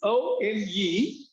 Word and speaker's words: one: The number one is, the spelling is O-N-E, but the pronunciation of that is one. The initial sound of that word one is W, one.